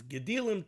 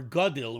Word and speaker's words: gadil: You should have braids or fringes, gedilim tasalach. So the Gemara darshans gedil shnayim. The word gedil or gadil would probably be a more proper pronunciation.